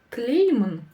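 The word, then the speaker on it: тілеймін: В начале и в конце данного слова у нас стоит буква Снова палочка с точкой. Она слово смягчает, но ее практически не слышно. Поэтому в транскрипции можно записывать прямо без нее. Тлеймін, тлеймін. А буква Е в середине слова вам подскажет, что она будет у нас ударная, то есть ударение на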